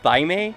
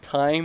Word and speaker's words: thyme: I thought it was called like thyme, like thyme or something, but it's actually pronounced time, and it's like, I'm just going, just no.